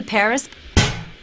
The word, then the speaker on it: Paris: you ever been to Paris wow so this is Paris I can't believe that I've never visited the capital of France before yeah well the locals pronounce it pari carmen's conducted a lot